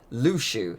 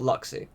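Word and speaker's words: Luxu: talking this is the case of Liu Shu that is how that's pronounced and not luck see so that makes you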